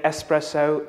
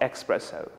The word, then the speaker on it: espresso: so from now on try to say espresso not expresso the second mispronounced word